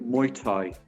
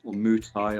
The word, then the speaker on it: Muay Thai: um personally i think muay thai um mutai or have you wish to pronounce that um is one